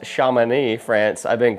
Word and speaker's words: Chamonix: Right now, I am in, apparently it's pronounced Chamonix, France. I've been pronouncing it Chamonix this whole time.